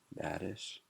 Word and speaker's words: badish: Badish. Rhymes with radish.